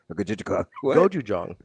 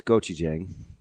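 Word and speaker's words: gochujang: Goju jang. Goi jang as in the goju jang. The Korean sauce. It's gochi jang.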